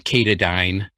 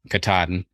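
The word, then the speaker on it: Katadyn: for you i prefer some people pronounce them catadine but some who are appalachian trail hikers katahdin but anyways those catadyne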